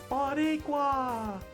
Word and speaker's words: Boricua: Oh, what you were pronouncing wrong was Boricua. It's Boricua. Oh.